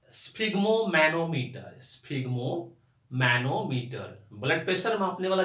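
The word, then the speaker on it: sphygmomanometer: लेकिन इसका प्रोनाउंसिएशन जो है स्फिग्मोमैनोमीटर, ये तोड़ तोड़ कर आपको बोलना है।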